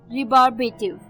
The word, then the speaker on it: rebarbative: रिबार्बेटिव. रिबार्बेटिव, जी हाँ, इसकी प्रोनाउंसिएशन थोड़ी सी डिफिकल्ट है.